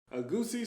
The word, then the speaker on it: egusi: be able to roll it into a board a goosey soup with pando yum great i said it